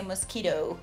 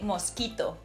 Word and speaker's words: mosquito: So same word in English, but we don't say mosquito. We say mosquito.